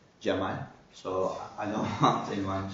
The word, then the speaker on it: Cemal: First of all, my name is written pronounced like Cemal, so I don't want anyone to know me in a wrong way.